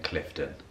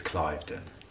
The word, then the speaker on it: Cliveden: First things first, in this video, I've been saying Clifton, and I found out that it's Cliveden, and so feel free to give me a hard time for mispronunciating the location at which we were visiting. However, I've now been corrected, and I fully understand that it's Cliveden House, not Clifton House.